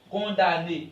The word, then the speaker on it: condamné: ne se prononce pas on dit condamné elle ne se prononce pas ici on dit